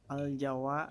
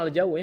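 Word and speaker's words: الجو: Al-Jawa Harun ya Ustad. Cuacanya. Cuaca Pak. Ini harusnya dibacanya al-jawu ya.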